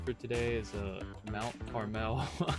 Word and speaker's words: Carmel: Last thing we're gonna do for today is the scenic drive, which is the Mount Carmel.